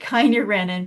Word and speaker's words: kynurenine: So I pronounce it Kynurenine because I want you to remember, me.